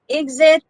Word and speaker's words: exit: So note that exit can be pronounced as k and sound or g plus z sound. Either way is accepted. Okay, if you say exit, it's correct. Exit is also acceptable. You can use either way, which way you are comfortable with.